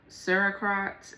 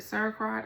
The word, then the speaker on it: sauerkraut: wine, cheese, kombucha or whatever, beer, liquors, kamichi, sarcrot and cheese. This is when a substance turns into an entirely different chemical from over time. I want to try the um that's how you say it, sauerkraut.